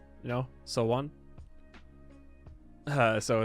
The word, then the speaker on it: Seowon: It's not pronounced Seowon, you know, Sowon. So it's like the same type of idea. And or no, how does he pronounce it? He says Seiyun. It's not Seiyun. It's Sowon.